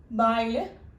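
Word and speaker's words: بَ: ബായിൽ ഇട്ടപ്പോൾ ബ എന്ന ലെറ്റർ നെയിമാണ് ഞാൻ പറഞ്ഞത്, ബ എന്നാണ് പ്രൊനൗൺസ് ചെയ്യുന്നത്.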